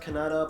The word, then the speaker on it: Kannada: I was told it's pronounced Kannada, but some people have said Canada.